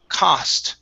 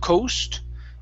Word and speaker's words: cost: next word here uh the word is cost right here instead of coast it's ah cost that